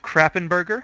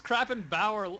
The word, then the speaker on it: Krappenbauer: So, as we can see, we have Krappenberger heading top on... That's his name! No, it's not. It's Krappenbauer or Krapenbauer.